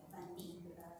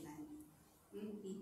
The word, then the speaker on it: Van Dyck: Tra gli artisti che in quegli anni appunto si trovano in quest'area c'è niente poco di meno che Van Dyck. Io lo pronuncio così, scusatemi, forse c'è una pronuncia più aggiornata di cui tenere conto.